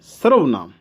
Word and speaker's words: सर्वनाम: ये जो रै ऊपर लगा हुआ है ये हमेशा जिस अक्षर के ऊपर वर्ण के ऊपर लगा होता है उससे पहले जो है उच्चारण करना होता है। तो इसलिए आपने भी इसका उच्चारण यहाँ करना है, इसके बीच में करना है, स और वै के बीच में करना है सर्वनाम।